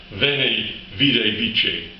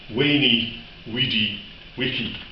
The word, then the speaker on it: Veni, vidi, vici: But the Romans didn't pronounce Latin the way we do. No, they were far, far different. What he would have actually said, if he'd been standing beside the great man at that time, he would have said, Veni, vidi, vici, which doesn't have the